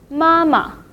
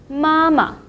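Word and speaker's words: 妈妈: Mama. Mama. Usually in Mandarin, when we talk about the family member, the second syllable will be repeated and marked in a neutral tone.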